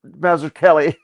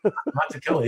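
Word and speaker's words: Mazzucchelli: No, it's it's the double C with an H would be Kelly. It's a hard C.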